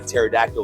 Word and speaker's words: pterodactyl: couldn't tell when a pterodactyl was going to the bathroom well because the p is silent part of one